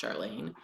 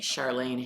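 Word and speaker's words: Charlaine: Charlene Harris, I think it's pronounced Charlene, and it's called Read Murders.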